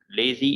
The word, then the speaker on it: lazy: can see li z lazy is not like lizzy if you're still lazy it's like very non-native but we would have like a a sound a it's a i sound it's like a monophthong it's i sound a vocal so it is lazy you are too lazy